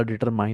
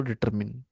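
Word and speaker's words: determine: म्हणतात त्याला डिटरमिन करेल आपण या शब्दाला डिटरमाई अस उच्चारतो पण याच प्रोनन्सशन असतो डिटरमिन तर या डॉग नाऊनच्या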